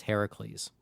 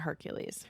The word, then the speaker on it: Heracles: Despite all of the fun singalongs in the movie, the official pronunciation is now accepted as Heracles. Ah, Heracles, not Hercules.